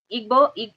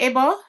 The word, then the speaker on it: Igbo: Um, Chris, is it Ebo? Let me see what he says. They leave that G out or something like that.